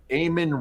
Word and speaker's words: Eamon: in this guy named eamonn reeves i believe it's e-a-m-o-n ayman reeves i think that's how you spell it um but he